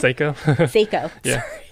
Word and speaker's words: Seiko: Sorry, how do you pronounce it? Seiko. Seiko.